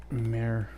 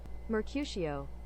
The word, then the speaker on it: Mercutio: How to pronounce Mercutio. Mercutio.